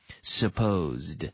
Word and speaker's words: supposed: Supposed. But natives, supposed. Natives usually put the S straight onto the P.